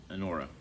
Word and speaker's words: Anora: I will bet you $20 on probably I want to pronounce it right. It's Anora, which is basically Pretty Woman, grittier, more real, and a lot less pleasant.